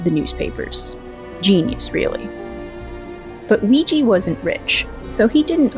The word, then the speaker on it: Weegee: known by his pseudonym Ouija not spelled like Ouija board but like squeegee because that was a